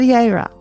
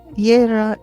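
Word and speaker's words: Jera: Then we have Yera. Spelled J E R A, Yera is the harvest.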